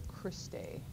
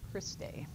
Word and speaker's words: cristae: this and then the membrane is called the cristae and that is spelled see our I s T Christie so that's the membrane just like the stroma